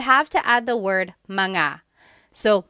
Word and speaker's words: mga: And then technically when you when you want to make something plural, you have to add the word manga. So, mga anak kids.